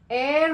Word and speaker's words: heir: Okay, the H is silent here. Air and air. Heir means I'm an heir to my dad's property.